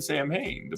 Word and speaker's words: Samhain: I said Sam Hain forever, so don't shoot me. Instead of Samhain.